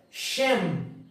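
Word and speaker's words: שם: para mim como é que eu vou ler shem shem que que significa shem shem significa nome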